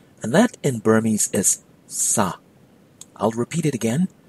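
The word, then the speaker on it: စား: it out as in sa that is not the verb to eat either it is something else you have to pronounce the verb to eat as if you're calling out somebody to get their attention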